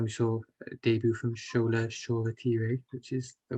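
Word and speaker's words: Shola Shoretire: nice and then we saw a debut from scholar shawwater which is the right pronunciation um so what were your thoughts on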